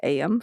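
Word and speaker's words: Eyam: It's spelled E-Y-A-M, but from my understanding, it's pronounced Ayam from what I've researched.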